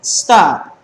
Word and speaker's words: stop: letra aparte dice stop tiene dos sílabas y el acento recae en la vocal en la o entonces duplicamos la la